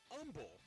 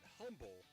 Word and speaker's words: Humble: undefeated of AOS and the neighboring Umble that's how they say it it's not Humble Texas you're top five in